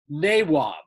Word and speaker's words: nawab: sort of robber barons they were given the derogatory title of nabobs which is how the british pronounced the princely title naywab like the famous nawabs